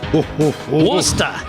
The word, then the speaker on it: Worcester: that's for sure especially what's going on in Worcester Mass at the City Council meetings wer man oh man it's pronounced wer yeah whatever um so let's get